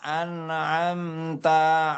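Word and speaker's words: أنعمت: Iya, Siratal ladzina an'amta alaihim. bagus. Cuman hanya ada pantulan di huruf anna. An'am. Tadi Pak Hadi bacanya an'am. Enggak. An'amta. Enggak boleh ada pantulan ana. An'amta.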